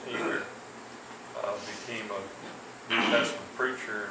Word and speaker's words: Hebert: That was the day of a man by the name of Everest Hebert, H-E-R-B-E-R-T, pronounced Hebert, became a New Testament preacher, and he immersed, I think, 3,000 Catholics.